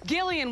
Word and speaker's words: Gillian: here uh Gillian Jacobs it's Gillian with a hard G damn it oh sorry